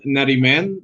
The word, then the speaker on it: Nariman: It's Nariman. That's the way we pronounce Nariman.